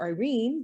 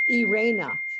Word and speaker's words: Irena: so today my guest is i irena and i have been calling her irene because that's what americans would pronounce it but it's actually irena so if i say